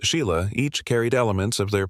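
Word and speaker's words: Sighle: Their daughters Susan, Joanna, and Sheila, spelled seagull, but pronounced Sheila.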